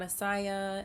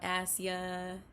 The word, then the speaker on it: Asya: channel my name is asia it is pronounced like the continent but it's spelled with a y so a-s-y-a it's not a saya it's not a sia it's not asia it's asia on my channel i'm